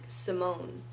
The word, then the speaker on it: Simon: deal about gender but they always pronounce the name like Simone why is this stuff